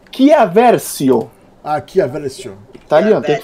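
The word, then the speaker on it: Chiarvesio: Andrea Tiaversio. Vocês vão... Peraí, deixa eu apenas corrigir a pronúncia do nosso amigo Harry Potter italiano, que é Chiaversio.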